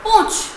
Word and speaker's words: पूंछ: पूंछ, ऊपर चंद्र बिंदु है, गले से स्वर है पूंछ, न का हल्का सा उच्चारण है।